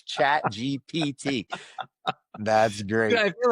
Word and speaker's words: ChatGPT: The P before the T. Remember, physical therapy for your brain. It's ChatGPT.